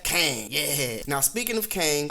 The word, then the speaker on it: Kang: avengers tower not exactly it reads q-e-n-g and you pronounce that kang yeah now speaking of